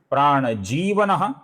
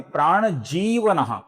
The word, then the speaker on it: प्राणजीवनः: आगे का नाम है प्राण जीवनः, इसका जी दीर्घ है।